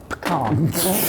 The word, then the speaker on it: pecan: It's like you're trying to get to the Khan and you just trip up on the way there. Pecan.